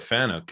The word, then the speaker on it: Fanuc: And if you've never heard of Fanuc, it's FANUC is how you spell it.